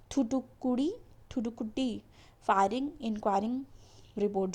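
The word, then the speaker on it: Thoothukudi: ठीक है, अब इसके बाद पढ़ना है हमें थुटुकी फाइंडिंग इंक्वायरी रिपोर्ट। तो ये प्रोनाउंसिएशन आपको करेक्ट कर लेना है, थुटुकुडी फायरिंग इंक्वायरिंग रिपोर्ट जो भी है।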